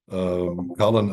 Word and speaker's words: Collin: Collin, I hope I'm not mispronouncing your name, partner.